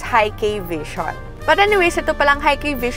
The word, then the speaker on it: Hikvision: Some call this as a hike vision or heat vision, HI vision. Pero sabi nila sa amin ang proper pronunciation daw nito is high K vision.